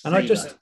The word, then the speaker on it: Selah: And it's pronounced Selah, by the way. Selah? Selah, yeah. We've had like Selah weekend music festivals at church and stuff, but it's always Selah.